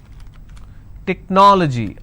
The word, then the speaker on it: technology: Technology. How many syllables do we have here? Technology. This is the ending. So I leave one, then I go to the next, and I pronounce this as technology.